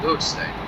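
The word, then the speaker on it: Wealdstone: Although the name actually says Weldstone, or it's pronounced as Harrow and Wheelstone.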